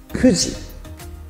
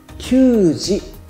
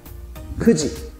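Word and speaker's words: 九時: この数字も 9 と 9 という 2 つの言い方がありましたけれど、見てください。9 時が正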